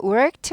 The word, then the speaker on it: worked: worked 발음 힘듭니다. R이 있으니까 꼬부려요. work 아니에요. work 절대 아니고요. work 꼬부리고요. 드 아니고 트 발음 나요. worked. 근데 그 와중에 크는 또 입모양만 해주고 잘 발음이 들리지가 않죠. worked 아니고 work 꼬부리다가 worked.